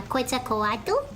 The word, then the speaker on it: Quetzalcoatl: And our mission is to defeat the evil god Quetzalcoatl. I can pronounce it properly now, Quetzalcoatl.